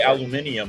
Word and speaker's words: aluminium: They aluminium, but they spell it aluminum.